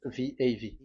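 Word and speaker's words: ו: So this is the the line, and it is called the V. Okay. So it's like I, but this is VAV. So the way we read it is VAV. So we wrote it as VAV. We called it as VAV. VAV. Your claw, your mouth is like closed. VAV. So it's V as in Vogue.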